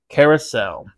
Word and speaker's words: Curaçao: way little fun note everyone keeps mispronouncing that I've done it for I don't know how many years actually had to make sure I figured out how to pronounce that correctly Carousel it's an orange leor